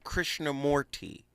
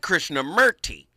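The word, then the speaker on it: Krishnamurti: Krishna Morty, but I like Krishna Merty.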